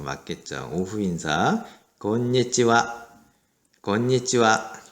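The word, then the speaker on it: こんにちは: 그래서 건니찌와.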